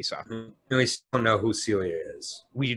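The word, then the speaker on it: Silja: that we kept saying sill juh si lja is not pronounced as oj it is pronounced as Celia it is a strange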